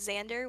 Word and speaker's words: Xaandr: Mm, But his name was Xander with two A's. It'd be XAANDR. But the second A is silent, and he had your name tattooed on his rear.